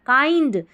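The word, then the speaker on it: kind: वॉज का मतलब था, काइंड, इसको काइंड पढ़ना है, किंड नहीं पढ़ेंगे, काइंड यानी कि दयालु।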